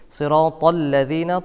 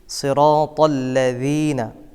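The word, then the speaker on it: صِرَاطَ الَّذِينَ: হয়ে থাকে আয়াতটি হচ্ছে সিরাতল্লাজিনা আনতা আলাইহিম আমরা অনেকে এখানে পড়ি সিরাতল সিরাতাল্লাজিনা সিরা সদের জায়গায় সিন পড়ি এটা একটি মারাত্মক ভুল করা যাবে না সদ পড়তে হবে মোটা করে পড়তে হবে সিরাতল্লাজিনা তর জায়গায় অনেকেই তা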